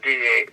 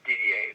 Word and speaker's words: Didier: uh Elizabeth uh uh Ferguson DDA yeah we pronounce it DDA d d i e r as DDA doesn't matter how you write it down just